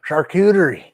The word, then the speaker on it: charcuterie: No, that's pronounced charcuterie.